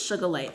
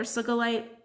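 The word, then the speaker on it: sugilite: just feel so unruly I think it's sugar light is how you say this one but that's how it's spelled sugar light or soca light I'm gonna say should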